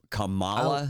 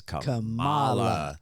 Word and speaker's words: Kamala: watch CA Harris tonight Camala I'm sorry Camala Harris I can't say her name right no matter what so it doesn't even matter you know I don't care what people call her camela Kamala her name is Kamala okay that's my that